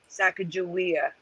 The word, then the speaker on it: Sacagawea: yes wizardry except change the way to we sacagawea that's how we pronounce it here eleven oh we lost theresa